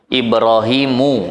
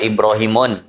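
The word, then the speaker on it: إبراهيم: Ibrahimu, nggak boleh Ibrahimun.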